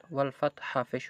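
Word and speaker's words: والفتح: ওয়াও লাম জবর ওয়াল, ফা তা জবর ফাত, ওয়াল ফাত হাফিশ হু, ওয়াকফের কারণে হায়ের ফেশটা সাকিন হয়ে গেছে, ওয়াল ফাতহ এভাবে পড়তে হবে, হাটাও উচ্চারণ করতে হবে, ওয়াল ফাতহ।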